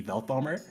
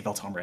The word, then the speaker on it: Velthomer: Honestly, considering that I never realized that anything that there's a TH in Veltomer, and therefore it could absolutely be Velthomer, I'm a little worried that I'm pronouncing it wrong my entire life, but I'm gonna say Veltomer anyway.